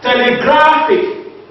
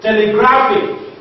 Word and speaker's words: telegraphic: Now, telegraphic, telegraphic, the second from the last syllable is gra.